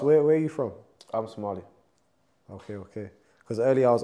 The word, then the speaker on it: Somali: Because obviously some people Some people say Somalian. The word that don't exist. Don't say Somalian to a Somali. That's the worst thing you can say. It sounds so weird. It's Somali.